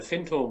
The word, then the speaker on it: Findhorn: You're right in the beginnings of, is it Findhorn or Findhorn? How do they pronounce it? So yeah, we live on the River Findhorn, which runs up into